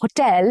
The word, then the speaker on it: hotel: We stayed at a 5-star hotel in Paris. Stress is on the second syllable again and not on the first one.